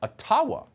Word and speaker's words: Ottawa: let the mayor of ottawa or atawa as it's correctly pronounced ojibwa explain why peaceful truck